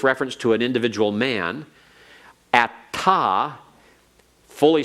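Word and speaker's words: אתה: And atta without a hey on the end is an alternate spelling, pronounced the same.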